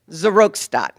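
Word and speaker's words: Seroxat: to Prozac, and I did get the right pronunciation here, Zeratox, right? Okay, give it to me once more here. Zerostat.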